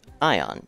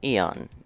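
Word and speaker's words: Aeon: an Arcana Marie is Ion Eon however you want to pronounce that I was told it's supposed to be pronounced Eon so that's how I've chosen to pronounce it you need the level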